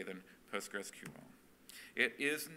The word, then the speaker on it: PostgreSQL: do you say it the official name of the project is postgresql p as as spelled and as capitalized on this slide postgresql postgresql just straight through it without without pauses or or